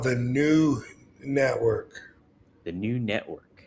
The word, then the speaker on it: Knew: It's called the New Network. The New Network. But it's spelled KNEW. Oh, like I knew.